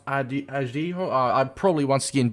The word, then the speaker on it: Araujo: pronounce his name incorrectly, I've had a look at some Spanish pronunciations, Portuguese pronunciations, and it's pronounced Araujo.